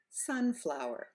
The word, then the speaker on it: sunflower: here we have sunflower sunflower we put the accent on the first word Sun so we're going up and we're lengthening the vowel Sun flower let's try another one